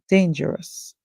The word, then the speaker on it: dangerous: The O is silent and the US makes the sound us.